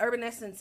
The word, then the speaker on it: Herbn Essence: when people say herb the h is silent or the ellen salmon yeah salmon not salmon no but urban essence is all about our